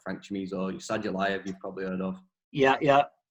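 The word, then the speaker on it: Sadulaev: Because Saudolev, is it? Sorry, I don't know how you pronounce it. Saudolev. Sadulayev, yeah. Saudolev.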